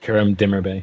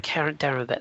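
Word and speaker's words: Kerem Demirbay: Karabai, how do you pronounce it? Kerem Dimmerbe. Kerem Dimmerbe.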